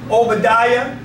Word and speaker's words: Obadiah: hear it Isaiah Zachariah so whenever you see the I a at the end of a name it always pronounced as the yah Jeremiah Zachariah Obadiah Saints